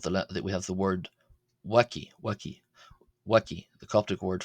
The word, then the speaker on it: ⲃⲁⲕⲓ: Here the letter B or W is uh B being the transliteration of course uh is pronounced as a W sound. A WW.